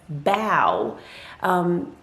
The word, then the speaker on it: beau: to tell you that the word beau is pronounced as bao and and i was